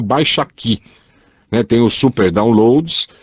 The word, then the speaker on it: Baixaki: Agora o Baixa Aqui se escreve com K, viu? Esse aqui é BAIXAKI.